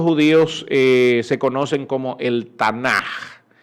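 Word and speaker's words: Tanakh: se conocen como el tanah t n al principio adapte a m acá lo que pasa es que en el hebreo la casi se se pronuncia como jota ok es lo mismo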